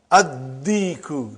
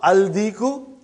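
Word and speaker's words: الديك: Addiku, not aldiku.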